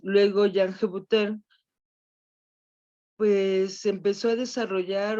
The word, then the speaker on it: Hébuterne: Me cuesta mucho trabajo pronunciar el apellido de Hébuterne porque es así como de esos apellidos franceses muy guturales, y ya ven que en el español no usamos mucho ese sonido.